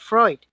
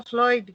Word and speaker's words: Freud: I think he's talking about Freud. Right, Alicia, Freud o Floyd, gracias. Alicia wants to know, well, pues yo creo que por ser portugués, I think ahí la L, pero yo creo es Freud.